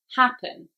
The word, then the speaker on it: happen: sure you did yes this is an exception to the rule so the stress goes on the first syllable because it is an e n ending verb happen number four that's right